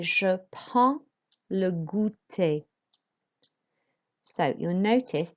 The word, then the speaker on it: prends: To say I have a snack, we say je prends le goûter. So you'll notice that with the je is fine. With prends, you don't pronounce the D and the S.